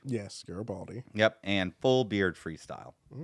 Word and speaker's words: Garibaldi: Garibaldi. Yes, Garibaldi.